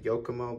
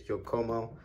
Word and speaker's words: Yokomo: was saying this wrong i was saying yokomo but i think the right way to say is jokomo i would think i was saying that